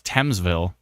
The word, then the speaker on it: Thamesville: 10 years later, we all know that I don't know how to pronounce a thing at all. I want to call it Thamesville, but turns out it's Thamesville.